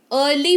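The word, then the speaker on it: early: उस particular word में ई जो है वो साइलेंट हो जाएगा। जैसे इसको ईयरली नहीं अर्ली पढ़ेंगे। क्या पढ़ेंगे? अर्ली पढ़ेंगे, जिसका मतलब होता है जल्दी।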